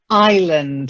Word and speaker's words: island: Then island. It's a silent S. Island.